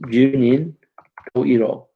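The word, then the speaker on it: 十人十色: In Japanese, it's pronounced Junin Toiro.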